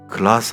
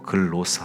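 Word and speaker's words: γλῶσσα: 다음에 글로사, 글라스 말이지 말고 오지 말고 글로사 하면 돼요.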